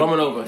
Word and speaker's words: Romanova: Romanova, yeah.